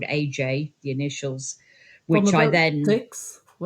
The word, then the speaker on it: Ajay: So I experimented with different spellings phonetically of AJ and ended up with AJAY, pronounced AJ, which I've stuck with ever since.